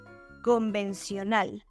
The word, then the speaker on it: convencional: Conventional, convencional. In this example, we have two almost identical words. The only difference is that in Spanish, we don't pronounce the letter T as a sh, as in conventional.